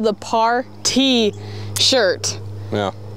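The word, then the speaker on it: PARTEE: You guys, this is called the par T shirt. Yeah. P-A-R-T-E-E is how you spell it. Well, yeah. Instead of par T, like P-A-R-T-Y.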